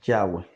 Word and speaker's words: Yahweh: hace la observación que la pronunciación más apropiada del tetragramatón debe de ser yagüe Aquí les presento para